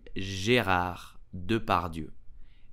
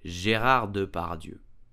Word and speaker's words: Gérard Depardieu: So how do we pronounce his name correctly? We will say Gérard Depardieu, Gérard Depardieu, Gérard Depardieu.